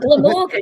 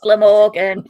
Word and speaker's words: Glamorgan: Well, the answer is Glamorgan. It's not Glamorgan. It's just Glamorgan. Don't be silly.